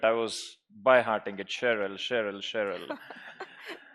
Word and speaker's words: Sheril: stage as we would like to felicitate you cherel yes I would like to apologize for mispronouncing your name I'm slowly getting used to it I was byhe Harting it Cheryl Cheryl Cheryl like ja now one of my